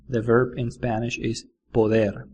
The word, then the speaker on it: poder: Poder. Harry Potter. It's like poder.